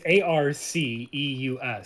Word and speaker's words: Arceus: Well, I mean, if you break down the word, it's Arceus. So you just take R and then Zeus. So R.